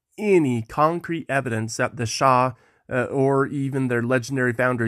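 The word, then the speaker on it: Xia: I don't begin with the SHA Dynasty that's spelled x i a for those who are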